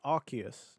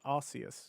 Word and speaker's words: Arceus: is a children's game it's arus not Aus maybe we should just